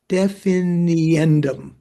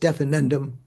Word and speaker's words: definiendum: The Sanskrit word for objects characterized, lakshya, is the same as the one for definendum, definiendum. I guess I have to put another syllable in there, right? Definiendum, not just definendum.